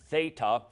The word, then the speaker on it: Theta: page just one time the Theta is a thth th sound pronounced Theta Yoda this is one